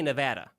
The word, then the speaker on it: Nevada: in the west where Nevada is they say Nevada so um that's the correct way to say